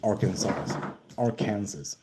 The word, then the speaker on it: Arkansas: Arkansas. That is how you pronounce that.